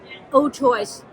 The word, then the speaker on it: Old Choice: Old choice. Old choice. Oh, Choice. So that's easy.